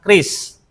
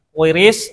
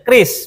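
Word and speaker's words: QRIS: Dan alhamdulillah ee karya anak bangsa kita menciptakan kris bukan quiris atau kris. Jadi bacanya kris memang kris ini ee Amerika itu sampai marah ya karena apa visanya mereka ee dengan mastercloud-nya itu tersaingi.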